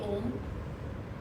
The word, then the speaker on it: Om: A lot of people do it differently, but the way we concentrate and do the Om is that the O should be short and the Ma should be long.